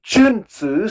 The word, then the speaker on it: Junzi: The Chun Tzu? Yeah, the Junzi, so it's, if we use the Latin transcription, is Jun, Jun, Lord, and Zi, Zi, the son of a Lord, Junzi.